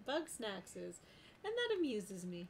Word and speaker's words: Bugsnax: reading your name because i read that as right oh yeah bug snacks and that amuses me